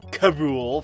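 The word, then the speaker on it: K. Rool: in this show are King K role which is pronounced Cabool for some reason and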